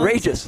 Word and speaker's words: Outdrejas: Outrageous. Outrageous. Outrageous. But it's spelled Outdrejas. But it's spelled different.